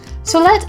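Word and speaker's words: סלת: Solet is spelled like this: Samech, Lamed, Ta.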